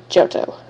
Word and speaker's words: Johto: I have the Orange Island theme song, the theme song from Johto, or Johto, however it's pronounced. You guys can pronounce it however you want it to be pronounced. But it's Johto.